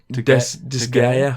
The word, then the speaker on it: Disgaea: Disgaea 5. Disgaea, maybe. Disgaea 5, Alliance of Vengeance, Launch Day Edition. And that's Disgaea. Disgaea. Oh, yeah, Disgaea. Maybe it's just the S is silent.